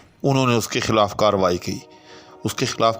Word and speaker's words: کارروائی: انہوں نے اس کے خلاف کارروائی کی۔ اس کے خلاف کارروائی نہیں ہونی چاہیے، کارروائی بھی اتنی تاخیر اچھی